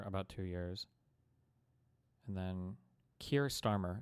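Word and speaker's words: Keir Starmer: And then Kier Starmer is how you say his name.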